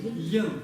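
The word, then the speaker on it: དབྱེན: Йен. Почему не йен? Потому что Б нет. Изучение. Потому что у нас сочетание предписной да и ба. И ни да, ни ба не читается, читается только что? Йен.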